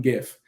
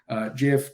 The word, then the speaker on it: GIF: And then, what animated image would be complete without at least one GIF, GIF, depending on how you pronounce it.